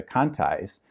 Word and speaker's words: Conti: they were named the Contis, which it should be pronounced Conti, but everybody said Conti there in Jamestown.